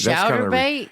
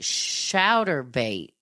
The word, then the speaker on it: Chaturbate: Now listen, it's spelled CHATURBATE. And he does role play sex, but never looks at child pornography. I'm going to look that up real quick. Okay, so it's like chatterbait, kind of like masturbate, but what